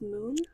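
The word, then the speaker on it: Muin: Um I've read a few different pronunciations for it. The one that I see the most is moon. So that's what I'm going to go with.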